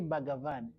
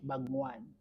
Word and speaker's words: Bhagavan: We say Bhagavan, but Kihindu wana pronounce Bhagwan.